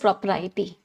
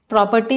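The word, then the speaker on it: propriety: एंड the word is प्रोपराइटी। प्रॉपर्टी नहीं है, प्रॉपराइटी है।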